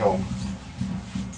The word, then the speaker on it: Om: Om is a syllable made up of three separate sounds. Ah, oo, um.